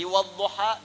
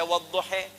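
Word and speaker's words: الضحى: Yang enggak bisa baca a pakai e imalah. Jadi wadduha bisa dibaca wadduhe ya.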